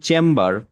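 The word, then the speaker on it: chamber: এখানে কিন্তু থাম হইলো, যে THUM থাম, বাট এখানে যখন চেম্বার, চেম্বার, তখন কিন্তু বিটা সাইলেন্ট হচ্ছে না, নাকি হবে? বি তো সাইলেন্ট হবে না, কারণ হচ্ছে এটা তো মূল শব্দ না, সিলেবালটা ভাগ করে পড়ি, এই জন্য চ্যাম দিয়ে একটা হচ্ছে, আরেক সিলেবাল হচ্ছে বার, ওটা ভাগ হয়ে যাচ্ছে।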